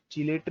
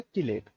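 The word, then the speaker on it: chelate: है हमारे पास, अब इसे तुम कुछ भी पढ़ सकते हो, इसे चिलेट भी पढ़ सकते हो और इसे किलेट भी पढ़ सकते हो, लेकिन इसका जो करेक्ट प्रोनाउंसिएशन है वो है किलेट।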